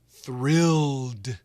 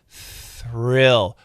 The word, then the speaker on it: thrill: And then the tongue goes in without touching, and we make the R sound, thrill, rill.